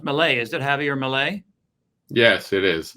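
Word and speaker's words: Javier Milei: so do do you think uh is is pronounced Malay is it Javier Malay yes it is right okay so do you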